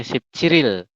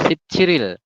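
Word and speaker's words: 십칠일: Jadi dibacanya Sip Ciril. Nah itu ya, jika ditambah dengan satuan seperti ini, maka nanti dibacanya Sip Ciril. Jadi rialnya nanti naik ke sini, seperti itu.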